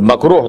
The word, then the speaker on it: makruh: Very, very imposing kind of word, makruh tahreemi. Like you say it like this with a ha nicely.